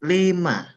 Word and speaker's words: lima: And then five is lima lema. Okay. Okay. Before six, we pronounce it nam.